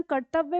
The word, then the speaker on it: कर्तव्य: र लगा हुआ है इस र का उच्चारण यहां पे है कर्त और व्य ठीक है आधा व और य तो कर्तव्य शब्द बन जाता है कर्तव्य का मतलब